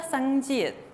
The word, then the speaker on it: 쌍지읒: ¿Y cuál era el sonido de la 쌍지읒? Como la CH. Entonces, ¿cómo va a sonar la CH? Cha, che, chi, cho. Ese es su sonido.